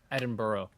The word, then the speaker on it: Edinburgh: that's fun that's fun I believe it's pronounced Edinburg Edinburg Edinburg or if you're Scottish Edinburgh Ed no it's one syllable edinb bur like yeah I'm not Scottish